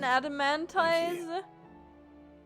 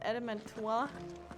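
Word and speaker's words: Adamantoise: has because it's an adamantis I'm pretty sure it's pronounced adamantois like the French pretty adamant about that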